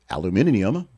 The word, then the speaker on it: aluminium: will on steel and as they say aluminium because that's how they say it over there.